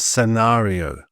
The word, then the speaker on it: scenario: But before an I and an E, the C is generally silent. And here are some examples: scent, science, scissors, and scenario.